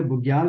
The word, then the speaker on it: बुग्याल: के मैदान है, इनको लोकली क्या बोलते हैं, बुग्याल बोलते हैं, ठीक है। हिंदी में कुछ इस तरह है, और इंग्लिश में भी स्पेलिंग आप बना के लिख लीजिए, बुग्याल, BUGYAL, बुग्याल।